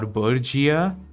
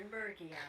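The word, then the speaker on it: Geosternbergia: It's either Bergia or Burgia. Burgia sounds weird.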